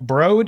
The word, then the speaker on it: Broad: Broad is in road. The broad as in road.